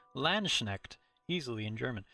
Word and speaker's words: Landsknecht: Landsknecht. How do you say Landsknecht? Landsknecht.